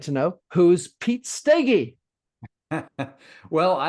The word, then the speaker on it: Steege: Pete Steege, Steege, I think is how it's pronounced. Peggy. Steege. Oh my gosh, I knew I had it. I knew it was stay, but I forgot the gee.